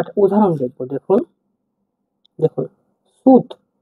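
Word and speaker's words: сүт: দেখুন সি এটা সি হলেও এটা ইংরেজি অক্ষরে উচ্চারণ হবে এস এর মত অর্থাৎ দন্তস দন্তস এবার আমরা একটা উদাহরণ দেখব দেখুন দেখুন সুদ সুত মানে কিন্তু দুধ সুত মানে দুধ দেখুন এটা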